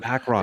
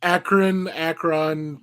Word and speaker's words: Akron: Akron, you said that your pronunciation was Akron. It's Akron.